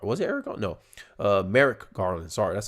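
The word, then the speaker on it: Merrick: Garland no Eric was it Eric no uh Merck Garland sorry that's how you say his name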